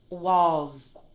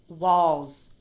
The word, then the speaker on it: walls: the sound longer so listen to the way that I pronounce this word walls did you hear that little that long duration with the z z walls walls the walls the walls walls instead of walls did you hear that